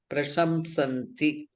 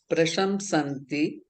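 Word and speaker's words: प्रशंसन्ति: Prashamsanti. That is, Makara has to be pronounced. Prashamsanti.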